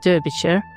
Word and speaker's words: Derbyshire: Even though it's spelled Derbyshire.